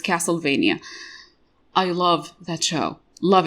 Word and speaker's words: Castlevania: forgot to mention castlevania castlevania yeah because it should rhyme with transylvania so it's castlevania i love that show